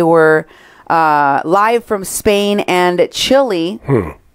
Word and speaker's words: Chile: This Roots campaign talks about how they were live from Spain and Chile. Chile. That's how it's said.